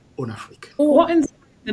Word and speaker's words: Onafriq: in the franophone and me being from Benin of course kind of pronounce it more like the franophone way rather than way. It does invoke the one Africa idea but it's on Africa.